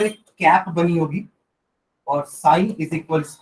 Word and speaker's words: psi: is given as इसको sign बोलते हैं. जो सिंबल है ना, ये साइन बोलते हैं. स्पेलिंग इसकी पी से चालू होती है, पी साइलेंट है, साइन.